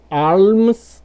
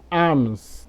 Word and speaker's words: alms: Ou essa outra palavra aí, ó, que você pode pronunciar das duas formas, alms ou arms.